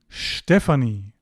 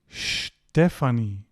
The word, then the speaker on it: Stephanie: So, take away here, ST at the beginning of a word will be sht, like here, Stephanie and Straße.